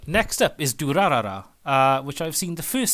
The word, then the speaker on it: Durarara: And Durarara comes from the main gang, the Dollars, or if you pronounce it in Japanese, Duraras.